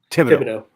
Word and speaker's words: Thibodaux: How do you pronounce it? Yeah, Thibodaux.